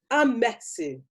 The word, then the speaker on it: Amesu: Well, I'd say, well, you phonetically emphasize the E. Amesu.